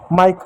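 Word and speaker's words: Mike: क लिख देंगे माइक अब कैसे माइक हुआ एम का म हो गया आई को आ और इ लिखेंगे आ की मात्रा और इ लिख दिया के का क लिख दिया ई साइलेंट हुआ माइक हो उसी प्रकार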